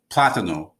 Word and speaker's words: plátano: So as a result, you have to put an accent here so that someone knows that when they pronounce it a certain way, you know that they're talking about the plantain. So plátano, and then you have platanero.